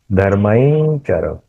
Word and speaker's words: धर्मं चर: उसका उच्चारण करना चाहिए धर्मांचर, आई, य का उच्चारण करना चाहिए, क्योंकि वो जो अनुस्वार है उसका उच्चारण च के अनुस्वार के जैसा हुआ, धर्मांचर।